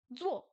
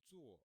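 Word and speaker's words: 坐: Zuo, zuo, zuo. S'asseoir. Le Z se prononce comme z en français. Zuo, zuo. Quatrième ton.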